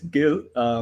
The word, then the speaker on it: Gil: Is it a soft G? And I've been mispronouncing it this whole time. It's Gil because it's short for Gileri. It's a Hindi word for squirrel.